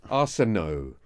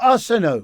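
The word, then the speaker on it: Arsenault: Uh Major and his friend Corpal Corporal Wilfried Arsenal Arseno It ends like Renault, right? Okay. A U L T. Oh, Arseno.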